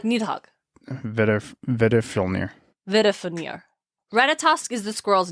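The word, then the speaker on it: Veðrfölnir: It's pronounced like a D. Oh, like Nidhogg. Vedifilnir.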